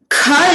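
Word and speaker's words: ख: Kha is pronounced with a mahaprana. You have to expel more air out from your throat when you're pronouncing.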